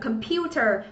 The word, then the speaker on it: computer: Và cuối cùng ở đáp án D thì các bạn có danh từ nhưng trọng âm lại giám tiết thứ hai, mình đọc châu giáo là gì nhỉ? Computer có nghĩa là cái máy tính.